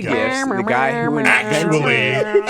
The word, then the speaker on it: GIF: How do you pronounce it? I say GIF. I've always said GIF. The correct answer is GIF.